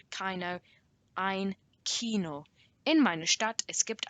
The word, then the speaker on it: Kino: That's how you pronounce Kino. It's not Kino, it's not Kino, ein Kino.